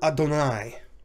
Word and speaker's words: Adonai: reason why i said adonai twice is because the name of god jehovah or yahweh when we read biblical hebrew is typically instead pronounced adonai and adonai